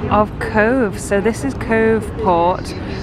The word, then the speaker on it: Cobh: So this is Cove Port. It's spelled C-O-B-H and it's pronounced Cove.